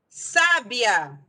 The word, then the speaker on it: sábia: Sábia. Sábia é uma proparoxítona. Ó. Sábia. De trás para frente é a terceira sílaba.